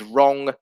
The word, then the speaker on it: wrong: example of this is the silent w in words such as wrong and right um which are pronounced as if the w does not exist so this is uh